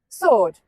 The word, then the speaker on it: sword: Sword. The W is silent, but swords are dangerous.